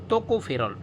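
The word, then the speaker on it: tocopherol: English मध्ये नाव आहे किंवा सायंटिफिक नेम आहे टोकोफेरोल टोको टोको टोको टोकोफेरोल ferrule ferrule vitamin टोकोफेरोल ठीक आहे टोकोफेरोल त्याची स्पेलिंग अशी पण असते दोन्ही पण चालते टोकोफेरोल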